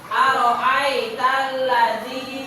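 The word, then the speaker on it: أرأيت الذي: Perhatikan ya aritalladzi ada lam di sana diaris. Araitalladzi yukadzibu biddin.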